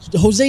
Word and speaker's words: Jose: Jesse, how do you pronounce? Or not Jesse? I'm sorry, Jose. It's Jose and Jesse from week to week.